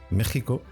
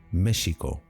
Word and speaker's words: México: Bien, ya conocemos el origen del fonema J y también sabemos que los primeros españoles escribían México con X, pero lo pronunciaban como SH, México, y que al combinarse